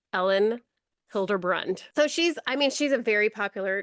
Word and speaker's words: Elin Hilderbrand: just looked up how to say her name, Elin Hilderbrand.